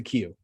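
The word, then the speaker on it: queue: spell it q-u-e-u-e but you pronounce it just the first letter because english okay that it's like a line so anything where we're waiting in order for stuff that is a cue um or anything where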